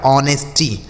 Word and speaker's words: honesty: यहाँ पे जो यच है यह साइलेंट है, इसे नहीं पढ़ते हैं, ठीक है। तो क्या पढ़ेंगे इसे पढ़ा जाएगा ऑनेस्टी।